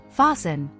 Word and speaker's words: fasten: Fasten. Listen. Moisten. Soften. Rule 2. The letter T is silent in some words, especially when it follows